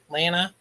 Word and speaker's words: Lana: Oh, it's actually, so it's Lana. Lana, right? Not Lana. Lana. Lana. To rhyme with banana.